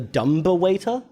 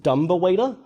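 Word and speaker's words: dumbwaiter: instead of dumb waiter he calls it the dumb waiter. And I for years after seeing that movie legitimately thought it was pronounced dumber waiter.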